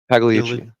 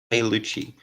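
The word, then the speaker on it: Pigliucci: Pagliucci. Pagliucci.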